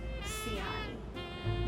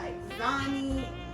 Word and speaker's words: Xiani: So my name is spelled Xiani, and it is pronounced Siani. Not Siani, not Exani, not xylophone. It's Siani.